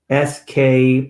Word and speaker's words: Flesk: How do you spell it? It's FLESK Publications, and it's John.